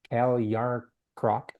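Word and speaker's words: Calle Järnkrok: Cal Yarncroc.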